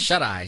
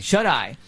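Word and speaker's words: Shuteye: What is it, Shutay Peak? How do you pronounce that? Shut-Eye. Shut-Eye.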